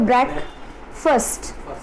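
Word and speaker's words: breakfast: ब्रेस्ट ब्रेक ब्रेकफास्ट ब्रेक बोलो ब्रेक फर्स्ट ब्रेक फर्स्ट है फर्स्ट number जो फर्स्ट बोलते हो ना वो वाला फर्स्ट बोलना है भले ही स्पेलिंग यह है ब्रेक फास्ट ब्रेक यह ब्रेक वाला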